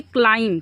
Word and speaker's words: climb: इसको पढ़ेंगे क्लाइम, क्या पढ़ेंगे? क्लाइम, क्या पढ़ेंगे? क्लाइम्ड, क्या? क्लाइम्ड। इसमें आपको ब कहीं दिख रहा है? नहीं दिख रहा है। तो इसमें ब क्या है? साइलेंट है।